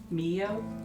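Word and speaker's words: Miyo: Mio, M-I-Y-O.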